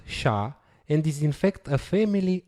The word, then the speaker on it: SHA: used is sha 256 sh stands for secure hash algorithm is pronounced sha and is infect a